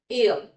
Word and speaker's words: heir: हेयर नहीं पढ़ना इसको, ये बाल नहीं है ये. HEIR, इसका प्रोनाउंसिएशन क्या होगा? एयर. H साइलेंट है यहाँ पे एंड इसका मतलब होता है वारिस.